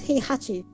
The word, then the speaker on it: Heihachi: wait season jesus yes it's heihachi hey i mean i actually put too much